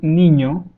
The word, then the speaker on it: niño: me tell you that you may have pronounced this letter. If you have pronounced the word lasagna, lasagna has a very similar sound to the ñ sound, lasagna, ña.